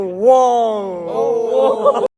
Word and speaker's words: Wang: Mais d'abord, mettons les choses au clair sur son nom de famille, car la plupart des gens le prononcent mal. Mon nom est Jackson Wang. Jackson Wong.